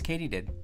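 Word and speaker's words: katydid: that though Jim do you know how to pronounce that word I believe it is Katie did I was right good thanks Jim all right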